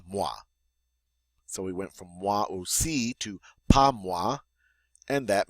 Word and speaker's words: moi aussi: Now we have a phrase, a two-word phrase, moi aussi. Moi aussi. The OI is the wa sound, the AU is the O.